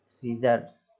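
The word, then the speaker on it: scissors: अब लिखा हुआ है सीजर्स, तो देखिए फिर से वही चीज़, एस के बाद सी आ रहा है तो सी जो है वो साइलेंट हो जाएगा, केवल डायरेक्ट पढ़ेंगे इसको, सीजर्स।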